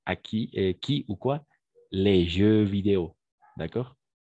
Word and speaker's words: jeux vidéo: Les jeux vidéo. D'accord? Jeux vidéo. On prononce de la même façon au singulier et au pluriel.